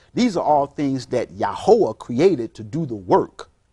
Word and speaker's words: Yahweh: Creator the Creator in the Bible described as yahwah that sometimes mistranslated as Yahweh and Jehovah but pronounced yahwah yahwah literally means means it that exist what